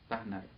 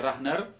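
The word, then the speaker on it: Karl Rahner: مسیحیوں کے اندر، یہ کارل رانر، یعنی KARL، کارل رانر پڑھیں گے ہم اس کو، انہوں نے رانر فارسی میں لکھا ہوا ہے RAHNER، رانر. کارل رانر یا رہنر کے جو ہم تلفظ کریں گے اس کا.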